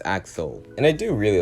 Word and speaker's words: Axel: also one of the characters that name I mispronounced and it's Axel and I do really like Axel's character just